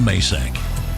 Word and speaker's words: Macek: pronouncing He's it correct. he has it right. Macek.